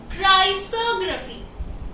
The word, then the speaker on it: chrysography: Next word is क्राइसोग्राफी, लेकिन ये क्राइसोग्राफी pronounce नहीं करेंगे हम इसे, ठीक है। ओ की जगह हम ए प्रोनाउंस करेंगे, तो ये क्या हुआ, क्राइसोग्राफी, ठीक है।